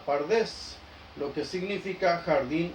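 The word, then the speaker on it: פרדס: Dice, la primera letra de cada palabra, pardes, P-R-D-S, porque no se usaban vocales, se toma y las vocales se agregan para la pronunciación, dando la palabra pardes, lo que significa jardín o huerto.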